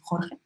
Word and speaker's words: Jorge: It's I don't know where you're from, but at least in Spain it's Jorge. So for everyone who doesn't know how to pronounce his name, it's Jorge.